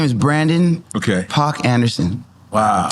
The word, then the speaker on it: Paak: My government name is Brandon Paak Anderson.